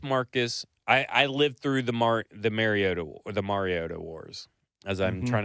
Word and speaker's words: Mariota: Are we saying it right? Mariota? Mariota is right.